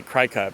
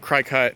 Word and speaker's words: Cricut: So lately I've been thinking about 3D printing, Cricut, however you pronounce it. I say Cricut, but CRICUT, the cutting machine, and things like that, different ways to make the ships.